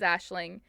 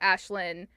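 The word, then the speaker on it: Aisling: so uh barry says she pronounces the g in her name and she's ashling and then some people pronounce it ashlynn so it's also like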